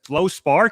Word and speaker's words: fluorspar: Literally I I mean it was actually when you brought it up to me I was like how do you even pronounce that? It's Flow Spar.